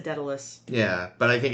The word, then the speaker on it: Daedalus: Uh I've always said Dalus. Yeah. But I think it's one of those six of one happens in the other things. Not to be confused with the Enterprise episode of Detalus. It's pronounced Datalus.